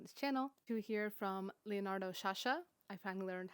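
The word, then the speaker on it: Leonardo Sciascia: Two here from Leonardo Sasha. I finally learned how to pronounce his name, an iconic Sicilian author.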